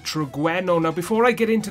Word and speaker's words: Butragueño: is it I mean I want to say butragueno guys but using him in game I noticed the commentators were saying Brena so I don't know guys if I am mispronouncing it I do apologize but for the purposes of this video I'm going to be pronouncing it breno now before I get